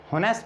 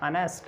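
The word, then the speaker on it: honest: जैसे इसको हम होनेस्ट नहीं पढ़ते, अनेस्ट।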